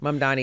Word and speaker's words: Mamdani: Mamdani, yes, Zohran Mamdani.